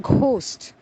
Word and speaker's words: ghost: So the first word, GHOST, is pronounced as ghost, not ghost, as some of us incorrectly pronounce. It is ghost.